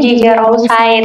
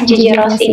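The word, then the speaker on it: Rousseau: Dulu kita bacanya Gigi Rosai, ternyata itu adalah Gigi Rossi.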